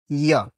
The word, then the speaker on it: য: কিন্তু আমাদের মতো মহান ব্যক্তিদের কে বলবে যে এই বর্ণের শুদ্ধ উচ্চারণ জ নয়, ইয়া। ই অ ই অ ইয়া। ই অ দুইটাকে শীঘ্রতার সাথে উচ্চারণ করতে হবে, সময় নিয়ে উচ্চারণ করলে হবে না। শীঘ্রতার সাথে একসঙ্গে দুইটাকে উচ্চারণ করতে হবে। ই অ এটা না, ইয়। তাহলে উচ্চারণ হবে যদা যদা, যদা যদা।